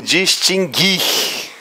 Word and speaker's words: distinguir: guarde aí é e ocorre dígrafo no seguinte verbo pa tá lá lá hoje eu vou falar como é que é a pronúncia Fala posso falar vou falar no verbo distinguir distinguir ocorre dígrafo eu acabei de pronunciar o verbo dis tingue é a gente não ouvir o som do ouro para não aquela mais